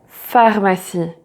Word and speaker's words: pharmacie: So for example, like rue, rue, librairie, librairie, pharmacie, pharmacie. And also pay attention to, for example, petit, petite, grand, grande. So every time you see this letter at the end of a word, it's never pronounced and you stop at